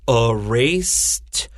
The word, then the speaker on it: erased: I say erased. My S 就 S 的发音 so ED 就发 T.